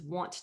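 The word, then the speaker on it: は: So I'm saying I, and this is pronounced actually wa. This is one of our very few exceptions to the hiragana pronunciation rules.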